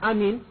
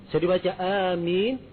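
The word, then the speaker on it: آمين: Kemudian pengucapan kata amin ini dikatakan yang pertama amin itu ada dua qiraah. Bisa dibaca amin, dan bisa dibaca amin.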